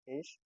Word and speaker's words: ich: pronoun or pronomen is EK now some people call it ish some people call it EK in both the cases